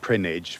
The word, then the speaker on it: Prinknash: Peter's Grange, the first home of the monks of Prinnage Abbey. Now, you won't actually find Prinnage on the map because it's spelt Prinknash, but it's in the Cotswolds just above Gloucester.